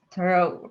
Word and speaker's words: thorough: Did they pronounce thorough right? Actually, I think that would be more American. But since you just got back from London, I'm going to be very nitpicking. So thorough. Literally, in case you, yeah, thorough, exactly.